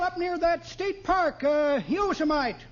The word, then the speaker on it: Yosemite: Had a job on a ranch out there for a while up near that state park, Yosemite. No, not Yosemite, Oldtimer. That's pronounced Yosemite.